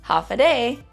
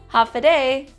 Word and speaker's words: Håfa Adai: And then the more commonly known greeting of hello would be hafiday, hafiday.